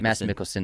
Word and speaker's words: Mads Mikkelsen: Mads Mikkelsen, that's how you say it.